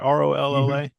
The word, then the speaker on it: Rolla: Rolla?